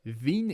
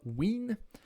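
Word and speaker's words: Wien: de déplacement spectrale devine wrn en prononce vignes et non pas win donc la loi du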